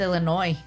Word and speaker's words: Illinois: I just did that with Illinois. Illinois and it's really just Illinois, right?